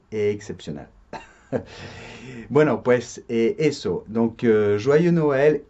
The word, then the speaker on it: joyeux Noël: Se dice joyeux Noël, ¿de acuerdo? Cuidado con la pronunciación. Joie, joie, como ua en español.